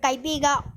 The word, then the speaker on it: Caibiga: In 1957, the city of Bagbaguin was separated from the barrio of Caibiga or Caibiga, pronounced with a K, and converted into a distinct barrio known as Barrio Bagbagin.